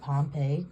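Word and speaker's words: Pompeii: I'm predicting we'll have this is pronounced Pompei Pompei Pompei will have another Pompei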